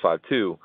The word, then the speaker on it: 52: know my third album it's pronounced 5:2 on the cover of that album I have my hand out with a five but then I've turned my other hand around and I have a two and when I make